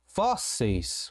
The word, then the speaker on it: fósseis: Próxima palavra, mais uma paroxítona. Fósseis. Como é que eu separo, professor? Fósseis. Um S para cada lado. Fósseis. E eu percebo que a penúltima sílaba é a sílaba tônica. Percebi que é uma paroxítona. E ela é terminada em IS, assim como o tênis. O que eu faço então? Eu acentuo.